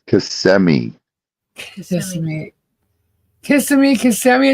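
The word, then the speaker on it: Kissimmee: But it's not kissing me. It's cmi.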